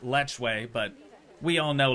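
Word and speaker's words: lechwe: all right so that is the Nile properly pronounced lechway but we all know Lech Hui sounds way cooler also a little French now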